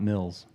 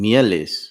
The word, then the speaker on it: Mieles: My name is Meals, not Mills. Sorry? I say everybody's name wrong. They consider it he does. Yeah. Or if we say it, he's actually Ecuadorian, as I am Mieles.